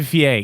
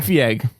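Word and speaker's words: Feige: only concession it's kevin the yeah it's kevin VA you're saying it wrong pick pick what however it doesn't matter he's the main guy at Marvel all hail Kevin Kevin fee egg go ahead Jess you're safe let me know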